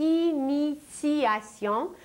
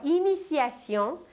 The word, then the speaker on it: initiation: Et nous aujourd'hui nous ne parlons pas de méditation mais nous parlons de initiation où un t se prononce comme un c mais en réalité il s'agit d'un t et la racine du